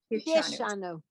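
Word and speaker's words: קִדְּשָׁנוּ: Because it's under the line of sounded schwa, they're saying it should be Kidishanu.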